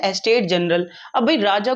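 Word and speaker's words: estate: एस्टेट, अच्छा बच्चे pronounce करते हैं इसे स्टेट, स्टेट नहीं, स्टेट राज्य हुआ, एस्टेट बड़ी बड़ी जमीनें।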